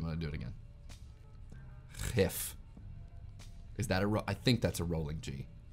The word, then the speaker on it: gif: said, Spoon of Doom, GIF with a rolling G. How many people pronounce it in Dutch, because it's already an existing word meaning poison. Ready? GIF.